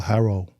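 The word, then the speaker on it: Hwarro: name it's called Uh everybody pronounce it different but it's uh Haro okay where's that one h w a r r o um it's right off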